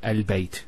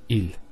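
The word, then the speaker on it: ال: the of defineness that the hamster is always pronounced with a fat not a and not a so it's always a al bait al and so on. It's never it's never ill.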